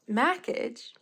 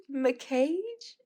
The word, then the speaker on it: Mackage: it pronounced, but like, if I had to pronounce it, I would pronounce it as Mackage, because I could have sworn this how I heard that it was pronounced. And then I saw that it was pronounced McCage.